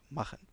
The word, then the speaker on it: machen: Alors ce son vient toujours après les voyelles A, U et O. Toujours. C'est-à-dire quand on a des mots où il y a le CH précédé par A, U ou O, le CH ne se prononce pas ch comme dans ich, mais ch comme doch et machen.